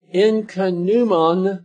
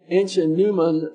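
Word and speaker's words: ichneumon: a dog fly a blood-sucking insect and the incanuman Fly uh this is another type of insect the fly is spelled i-c-h-n-e-u-m-o-n the ancient Newman fly which deposited its eggs on other living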